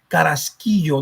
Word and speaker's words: Carrasquillo: That's a Spanish name. Take it with pride. It's Carrasquillo, no Carrasquillo or Carrasquillo or Carrasquillo. Carrasquillo. Take the syllables, separate them.